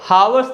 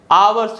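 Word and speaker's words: hours: है या साइलेंट है और हार्स नहीं होता है आवर्स होता है इसमें भी जो लेटर एच है या साइलेंट है तो 60 पर इंग्लिश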